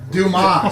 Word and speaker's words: Dumas: Dumas. It's from the pronounced Dumas.